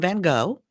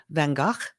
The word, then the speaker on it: Van Gogh: gogh and a lot of people call him van gogh it's okay it's really van gaach was the pronunciation but um most people know him about